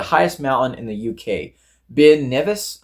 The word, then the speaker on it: Ben Nevis: Ben Nevis, I believe is how it's pronounced.